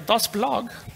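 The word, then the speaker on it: dasBlog: it's called dos blog which is german for the blog it's true you have to say it like a dos blog yeah from a germans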